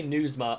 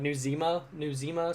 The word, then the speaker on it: Nizuma: I have a problem trying to pronounce his name, so I say Nuzma a lot. It's like Nuzima, something like that.